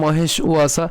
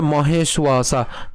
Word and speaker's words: মহেশ্বাসা: কেন মহেশ্বাসা? আমি বলেছিলাম এটি হচ্ছে কি অন্তস্থ ব, নট বর্গীয় ব। আমরা জানি যে অন্তস্থ বয়ের উচ্চারণ কার মতো হয়? উর মতো হয়, এবং বর্গীয় বয়ের উচ্চারণ কেমন হবে?